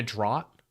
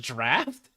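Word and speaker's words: Draught: uh B casters I guess Mana drought Mana drought drought drought drought drought I don't know how to pronounce this I just played DOTA I don't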